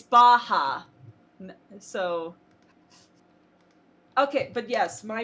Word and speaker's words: Baja: yeah wait is it is it pronounced baja like yaya or it like baja blast at taco bell that's what their character is based off of so yes it's baja so okay but yes